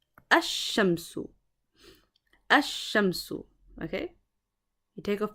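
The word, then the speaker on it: الشمس: So, one of the rules of Arabic is that some letters, when they take on alif lam, okay, the alif lam, the lam becomes silent, and some letters, when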